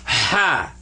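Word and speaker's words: ح: need to clean them you get that sound when you go ha ha that is the sound of this pot-bellied fella right here that's ha don't confuse that because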